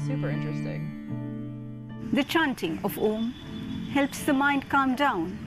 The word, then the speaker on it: Om: This universal sound is a combination of three syllables, A, U, and Ma. When we pronounce Om, as we say A, the lower portions of the body, up to the stomach, are activated.